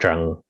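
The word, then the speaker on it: Trần: vietnamese is zhang so tran is pronounced in vietnamese is pronounced jung which doesn't sound anything like tran and then my first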